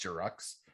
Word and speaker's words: Giroux: Pretty sure it's pronounced Giroux.